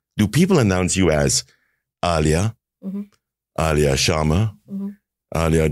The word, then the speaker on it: Aliyah: They used to call me Alia. Yeah. Alia. Yeah. Okay. But actually my name is pronounced Alia. Right. Okay. So it's Alia.